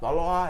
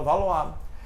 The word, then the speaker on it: Valois: Valois, é assim que se fala. Se escreve Valois, mas se fala Valois.